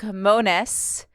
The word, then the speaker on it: Mones: quo I'm here with Luke monis like bonus like bonus you nailed it how are you Luke